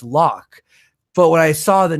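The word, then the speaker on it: Locke: the the character lo as a kid I pronounced it Loki because I had the e at the end for my entire life until I was a few years ago my buddy's like Loki know it's lock but when I saw the name it just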